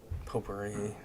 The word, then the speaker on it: potpourri: Potpourri, hey. No, it's pronounced pot Pot, pourri.